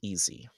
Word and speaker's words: ESI: ESI for short and pronounced easy.